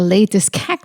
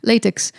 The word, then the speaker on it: latex: idea of wearing a latest tattooed latex tattooed that's how you say it but um because I